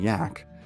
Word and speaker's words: Jack: begrudgingly respectful nicknames of Captain Jack, pronounced Captain Yak, and Bravo Too Much or Brave Too Much.